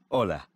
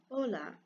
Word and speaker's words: hola: how to say hello hola and i'm gonna move on to the next did you notice that although hola starts with the letter h it is not pronounced the letter h is